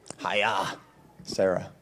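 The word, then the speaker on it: Chayei Sarah: And it came up, Hiya, Sarah. That's how Matthew told me how to say it, which means she lived.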